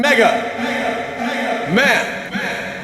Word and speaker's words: Pmega Man: you I am captain Mega Man the most mega of men why is there a pee on your chest the P is silent and it's a hand-me-down